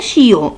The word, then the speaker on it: chiot: Un chiot. IO se prononce yo.